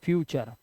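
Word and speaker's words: future: लेकिन एक्चुअली इसका उच्चारण टुरे नहीं, ये गलत है। इसका उच्चारण जो होता है वो होता है सिर्फ चर। क्या होता है, चर, ये आप याद कर लो, चर।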